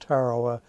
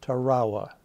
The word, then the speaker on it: Tarawa: is spelled ta our AWA and it is pronounced Tarawa not Tarawa Tarawa ok and what date or what dates